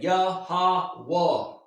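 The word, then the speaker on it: Yahweh: Hebrews the Lord the translation here is Y HWH and you pronounce that Yahwa.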